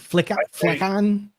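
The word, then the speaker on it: flicon: We'll drop a link in the show notes to how do you say it? Flickon? That's fine. I say Flycon just because it's Fluent UI Icons.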